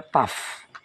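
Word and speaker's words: ת: Itu tau atau dibacanya taf. Biasanya W itu disebut V.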